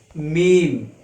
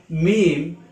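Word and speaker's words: ميم: this shape without any direct remark is called meme it is a light letter so it can be pronounced easily its pronunciation in english is m double e m meme then uh lets pronounce each letter twice then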